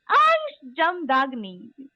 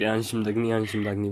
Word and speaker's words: Ansh Jamdagni: So, welcome my first ever guest on my first ever podcast, Ansh Jamdagni. Thank you so much. Am I am I Thank you for that. pronouncing your name right? Sorry. Yeah, it's perfect. Anshim Dagni works.